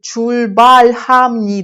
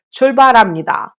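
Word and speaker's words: 출발합니다: щоб ви знала що воно не читається як чульбальхамні Да немає х такої твердої тут льхамніда ніхто не каже кажуть чульбарамніда Тому треба це знати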